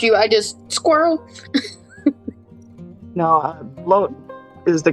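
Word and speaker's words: blót: papa bear and Kelly wrong I've been pronouncing it blot I I just learned that I've been pronouncing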